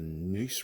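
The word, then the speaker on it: Neuse: Battle of Newburn and you got the the Nice River. That's how it's pronounced.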